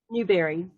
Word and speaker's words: Newberry: Newberry.